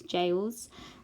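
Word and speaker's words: Gaols: says the jails act it's spelt gales but it's jails and this little bit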